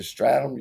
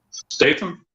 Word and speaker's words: Statham: you say his name jason stratham you look kind of like him statham yeah you see him